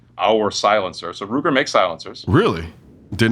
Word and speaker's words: Silent-SR: So Ruger makes silencers. Really? Did not know that. Yeah, we did. So we just got into the game last year. So it's spelled silent-SR, but we pronounce it silencer.